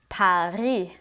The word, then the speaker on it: Paris: For example, the word Paris, written the same in English, is pronounced without the final S sound. Paris.